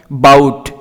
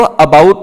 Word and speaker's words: about: यहां पर ध्यान दीजिए, ABOUT, इसको मैंने प्रनाउंस करा, उच्चारण करा बाउट। मैंने इसको अबाउट नहीं कहा, बाउट। ए साइलेंट है।